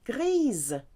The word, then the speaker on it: grise: Grey for masculine is gris, and for feminine you add the E, so now you're going to get that Z sound because the S will be between two vowels. Grise.